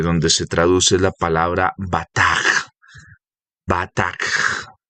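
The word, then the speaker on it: בטח: Entonces ahí tiene una pronunciación con una J al final. Se deletrea de la siguiente manera. B, A, T, A, K, G. Bataj. Bataj. ¿Listo? B-A-T-A-K-G. K-J, perdón. B-A-T-A-K-J. Bataj.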